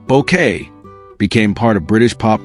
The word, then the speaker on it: Bouquet: Her delivery of lines like, "It's pronounced Bouquet," became part of British pop culture history.